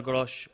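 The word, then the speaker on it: Groß: is Sanchez, Veltman, Dunk, Webster, Sully March, McAllister, Caicedo, Trossard, Pascal Grosch, Lallana, and Danny Welbeck up front. Good pronunciation for Gross.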